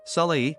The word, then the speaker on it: Solai: you apart from others soai pronounced Sal means joy and coffee